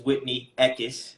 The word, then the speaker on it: Whitney Eckis: Well, everyone, this is Whitney Eckis. I said that right, correctly? Yeah? Yes. You're nailing the pronunciation today.